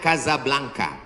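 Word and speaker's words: Casablanca: Ibu kotanya tulisannya Casa Blanca. Cara bacanya Kazablanka.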